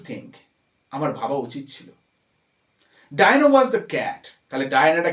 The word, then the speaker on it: Dinah: এবার তার ভাবনায় কি আসছে, ডায়ানা, এখানে উচ্চারণটা কিন্তু খেয়াল করবে, ডায়ানা, DINAH, ডায়ানা।